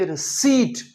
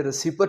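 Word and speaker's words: receipt: लेकिन इसका उच्चारण अंग्रेजी में रिसीट होता है जिसमें पी नहीं बोला जाता। सो आपने इसे रिसीपट नहीं रिसीट कहना है।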